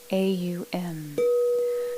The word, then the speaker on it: Aum: Deliberately creating a 3-syllable sound of Om, A-U-M, starting with our mouth fully opened, halfway opened, fully closed, in equal amounts for each of those positions.